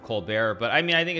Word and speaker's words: Colbert: Obviously, I know that he pronounces it Colbert, but I mean, I think it's just like, just, I don't know, be confident.